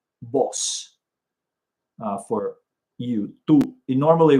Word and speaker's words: vos: Vos. It's spelled V-O-S, but don't say vos. It's vos.